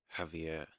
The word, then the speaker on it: Javier: This is, well, the guy's called, because yeah, she put it how to pronounce it, Javier.